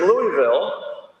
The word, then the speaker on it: Louisville: There's a study here from Louisville that I've been showing all around, sorry, Louisville, I've got to pronounce it right, that I've been showing all around the world for a decade.